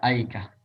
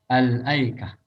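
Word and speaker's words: الأيكة: Kalau tidak ada alif lamnya maka aikah. Ya. Dibaca aikah. Kalau ada alif lamnya maka al-aikah.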